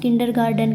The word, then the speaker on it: kindergarten: बोलते हम किडर गार्डन है बट जो स्पेलिंग है ना वो ऐसे लिखते हैं।